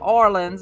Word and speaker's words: Orleans: So the first thing I want to talk about and share with y'all is Orleans, or Orleans, if you're saying it correctly, home fragrances.